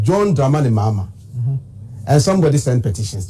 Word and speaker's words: Mahama: Now hell must break loose because it's John Mama and NDC.